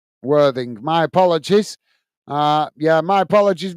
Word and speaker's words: Worthing: Well, I'm reading it how it's pronounced, Worthington. That's how it's pronounced, isn't it? Or is it? Oh, it's Worthing, isn't it? Yeah, you call Worthing, I think, is it? Worthing.